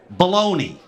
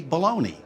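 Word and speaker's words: bologna: else that's bugging me baloney is spelled b o l o g n a what they say baloney lasagna is l a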